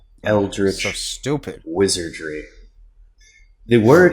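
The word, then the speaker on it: Eldritch: Eldrich. So stupid. Wizardry. The word is Eldrich. Eldrich. I pronounce it Eldrich.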